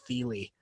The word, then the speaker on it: Thiel: oh it's actually David Thiel II yeah I had a friend of mine who has the exact same last name but she pronounced her last name differently it's david feely yeah and the spelling